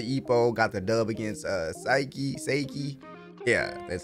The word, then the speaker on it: Saiki: Last episode, brother Ippo got the dub against Saiki. Yeah, that's how you pronounce his name.